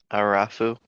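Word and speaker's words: الرفُّ: Ra is a sun letter, so we're not going to pronounce the lam, so it's pronounced rough.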